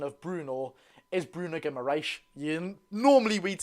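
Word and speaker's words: Guimarães: Like, some people call the correct pronunciation of Bruno is Bruno Guimaraes.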